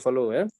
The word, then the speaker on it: Fallot: The T is silent. Tetralogy of Fallot.